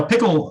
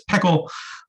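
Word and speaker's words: PECL: repository uh called p-e-c-l which i've always pronounced as peckle apparently it's pronounced pickle and this is basically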